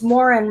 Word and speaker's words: Morin: Folks, it's Morin, right? Am I pronouncing it right?